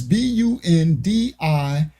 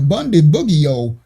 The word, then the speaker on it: Bundibugyo: It's Bundibugyo. They got a new strain of Ebola, Bundibugyo, Bundibugyo. I don't know how to say it. I say Bundy, like Ted Bundy, and Bug, like June Bug.